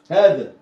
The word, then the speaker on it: هذا: هذا فاكرها ولا نسيها؟ هذا، هذا دي مالها؟ فيها ألف برضو هنا ينطق ولا يكتب، هنا برضو في هنا ألف ينطق ولا يكتب.